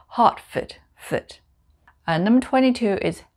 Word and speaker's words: Hertford: We don't say Hertford, we say Hertford.